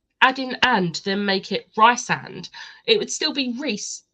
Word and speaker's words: Rhysand: of Thorns and Roses, they keep calling Rhysand. I know. I will admit, when I was reading it, that was how I was pronouncing it in my head. However, eventually, like, I trained my brain to say Rhysand, and that it makes more sense with Rhys for short.